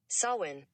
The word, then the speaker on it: Samhain: word of saw when again it's spelled s-a-m-h-a-i-n but it's sawin i'm gonna do something